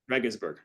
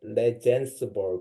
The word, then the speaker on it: Regensburg: you're talking about now I learn how to pronounce the the area Germany Leed gansburg Regensburg yeah I going there in September for a seminar or the conference uh and then now I know how to pronounce that one I used to pronounce Legend word but that's wrong pronunciation and then Dave shaper